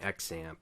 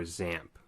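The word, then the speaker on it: XAMPP: our development environment using xamp or zamp okay it's pronounced both ways um and what this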